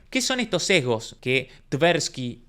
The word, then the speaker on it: Tversky: Tanto Daniel Kahneman como Tversky, que no me acuerdo cómo se escribe, pero sé que se pronuncia Tversky, tuvieron y dieron origen,